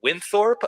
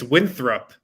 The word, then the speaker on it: Winthrop: there you go harrison what's the school's name the correct name i believe it's winthrop yeah yeah yeah i can't pronounce it you got it right yeah he said all during bets daily right before the show he said winthor yeah before the whole time